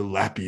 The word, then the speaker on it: LAPPy: Or should we pronounce it L-L-A-P? No. Lappy, definitely.